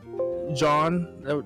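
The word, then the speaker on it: Jean: wish we had the other interactions with like john that's how you say his name and connie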